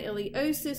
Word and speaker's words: iliopsoas: So I can still see my iliosus with the silent P, my femoral nerve, pectineus, adductor longus, gracilis, adductor magnus here and here.